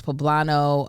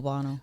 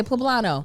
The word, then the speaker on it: poblano: had the black beans poblano um pueblino plublin how you say it i thought it was bobano okay poblano poblano peppers it had fresh tomato